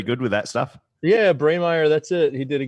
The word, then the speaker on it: Breymaier: How was the pronunciation of the last name? Jordan's normally pretty good with that stuff. Yeah, Breymaier.